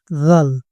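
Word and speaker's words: ذال: এটার উচ্চারণ দ আর এটার উচ্চারণ আমরা করি জ কিন্তু এই জা আর দা এর মাঝামাঝি হবে এই জাল এটা হচ্ছে গিয়া তোমার দাঁতের পিছন সাইড থেকে এই যে দেখো শোনো জাল জাল জাল হ্যাঁ জাল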